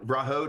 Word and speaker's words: Vrahode: I try to say this but it's you pronounce it perfectly it's it you know rahod is exactly it um I'll be honest with